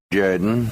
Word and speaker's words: Jordan: It's pronounced Jordan.